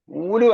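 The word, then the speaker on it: أولو: ഉലു എന്നാണോ ഉലു അല്ലേ ഉലുവ അല്ല ഉലു എന്നാണ് വായിക്കുകയാണ് വാവ് എഴുതും പക്ഷേ വായിക്കുന്നത് വാവ് ഇല്ലാതെയാണ് ഉലായിക്ക ഉണ്ടല്ലോ ഉലായിക്ക പോലെയാണ് ഉച്ചാരണം ഉലുൽ ഇൽമി ലാ ഇലാഹ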